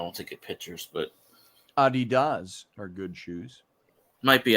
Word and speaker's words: Adidas: It's a German shoe, and in Germany, it's pronounced Adidas.